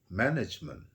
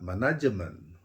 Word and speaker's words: management: Misalnya kita mau mengatakan management dalam bahasa Inggris, spellingnya adalah M-A-N-A-G-M-E-T, management. Ya, jadi kalau orang Indonesia menyebutkannya manajemen, nanti salah mengerti.